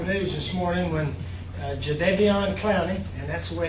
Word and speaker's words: Clowney: Obviously, we got some wonderful news this morning when Jadeveon Clowney, and that's the way it's pronounced, Jadeveon.